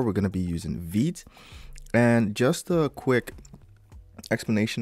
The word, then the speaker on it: Vite: I think it's French, so it's like Vite for, I think it means quick, not too sure. So yeah, it's French word for quick, so there we go, it's pronounced Vite.